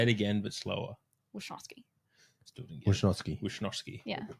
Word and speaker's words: Wishnowsky: I mean, it's Wishnowsky, but Well, what? it's like it's not a now.